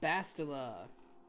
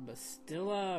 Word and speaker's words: Bastila: bad could it be and bastila or bastilla or I don't know they pronounce it both ways in the game so whatever but I'm